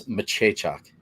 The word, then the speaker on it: Machechak: Also, Honky, it's Machechak is how you say his name.